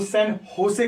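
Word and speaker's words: San José: होसे लिखा जाता है, JOSE लिखा जाता है, स्पेनिश वर्ड है, इसलिए इसका जो प्रोनाउंसिएशन करेंगे वो सैन होसे करेंगे।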